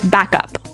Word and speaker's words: backup: I think though it's important to point out that here the pronunciation and stress of this phrase is really important. Hey. Yes. Yes. You have to say backup.